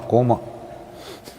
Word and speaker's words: coma: is in coma no I said it right not comma coma domestic violence has come